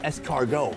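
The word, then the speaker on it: escargot: In France, they're called es cargo. It means snail. I thought it meant something potentially more fancy, but no, it's three syllables to say snail.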